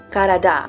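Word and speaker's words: Karadağ: The address had my last name in it, Karada, but all lowercase, and without the Turkish G, which was silent.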